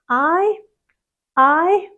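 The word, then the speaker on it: aye: The pronunciation is like I or the letter I. But make it longer. I I.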